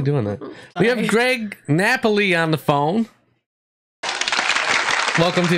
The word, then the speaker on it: Napoli: am doing great it's Nepali yeah I can't call him Nepali um I just realized that I'm a dumbass thing and it's actually pronounced Napoli um I guess I